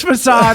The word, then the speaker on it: facade: And I went, it's facade.